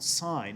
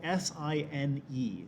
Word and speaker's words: sine: first one is called sine it's spelled s-i-n-e just like this here at the top okay but we abbreviate it to s-i-n some people call it sin but technically we should call it sine now notice sine of